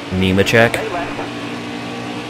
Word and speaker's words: Nemechek: the 2019 game why wouldn't they have them Nemechek that's how to pronounce careful to know that come through come